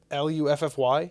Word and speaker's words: Luffy: sure from One Piece l u ffy yeah I would say it's Luffy but it's probably that way yeah but like to me it's spelled like fluffy we don't say fluffy do we so be Luffy